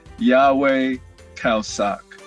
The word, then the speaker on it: Yahweh Khao Sok: Yes, my name is pronounced Yahweh Khao Sok.